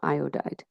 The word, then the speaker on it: iodide: IDE ending and so how that's pronounced is IOD died magnesium iodide okay all right so